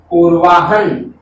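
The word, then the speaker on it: पूर्वाह्न: दोबारा सुनिए मित्रों, ये उच्चारण के अनुसार ये ह तो हो जाएगा आधा, और ये न हो जाएगा मित्रों पूरा। तो शब्द क्या बनना चाहिए पूर्वाहन।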